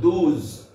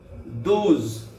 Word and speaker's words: douze: I repeat again ONOZE ZO OZ OZ 12 DOUZE DOU DOUZE ZO DOOZ DOOZ. Not only for the pronunciation you have to practice with spelling.